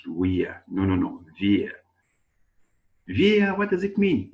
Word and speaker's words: wir: W, we pronounce it in German language like letter V. Okay, that's why I'm reading wir, not wir. No, wir.